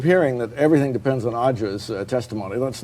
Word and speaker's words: Ağca: We've been calling him Ağca, but I gather it's Ağca. Oh, the name is pronounced Ağca in Turkish, yes.